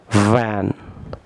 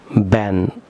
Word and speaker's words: van: Viewers বলুন ভ্যান, নট ব্যান। অনেকেই বাংলাদেশে এটিকে ব্যান প্রনাউন্স করে থাকেন, সম্পূর্ণ রং প্রনাউন্সিয়েশন।